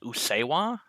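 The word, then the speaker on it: Usseewa: I oh, heard it, and I believe you said it's pronounced Usewa.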